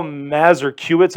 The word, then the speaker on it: Mazurkiewicz: Paul Mazurkiewicz, I believe is how you say his name.